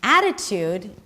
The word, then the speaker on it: attitude: The ya, that's the as in cat. The T is a flap T, and then it's a schwa. The ada. So it's not an I, or what you would assume to have in this word because of the spelling.